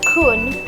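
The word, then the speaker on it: คุณ: usually used normally but the word kun pronounced with the short oo sound precedes the name so if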